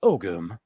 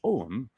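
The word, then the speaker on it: Ogham: for dollars right here ogum pronounced ogum Modern Irish om or I like this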